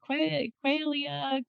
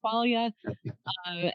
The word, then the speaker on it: Qualia: came out and no one knew how to pronounce the word Qualia. What is that? Quailia. Qualia.